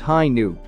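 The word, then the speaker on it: Hi-ν: v-- gundam vicious project the RX 93 v2 hi nu gundam pronounced hi new is an alternate interpretation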